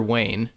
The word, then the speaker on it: Wayne: guy in a major Wayne in charge of isn't it it rhymes with major pain so should be easy